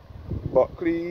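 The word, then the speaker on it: Bulkeley: Buckley is spelled B-U-L-K-E-L-E-Y.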